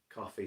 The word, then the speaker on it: Ko-fi: You can kind of just search coffee spelled with a K and Witch Hazel, it'll probably come up.